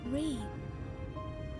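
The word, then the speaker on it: Ryne: Reen. Yes, I rather like the sound of it. Thank you. That sounds like it should be. That looks like it should be pronounced Ryan, That not settles it then.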